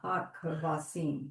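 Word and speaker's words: הכבשים: hard sound, but oh ka ha kavasim. Because it's got a dagesh, and because you have a silent, it gets its own syllable. Hakavasim. So it's not haka, it's haka.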